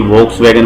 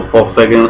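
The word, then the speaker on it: Volkswagen: जो फॉक्स वैगन है, जिसको वी से बोलते हैं, तो कई वॉक्स वैगन भी बोलते हैं, तो मैं उसको फॉक्स वैगन आपको प्रोनाउंस करके बता रहा हूँ।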